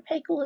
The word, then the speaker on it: Paykel: 40 liters per minute this is fisher and pay coal okay mr pakel is actually from new zealand that's how you pronounce his last name and they have the